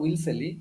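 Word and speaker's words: Wellesley: अच्छा next next को आस बर्तमान रयतवारी सिस्टम देखे रयतवारी सिस्टम एथिरे कौन देख ये कौन है ना Lord विल्सेली came to India as Governor General in May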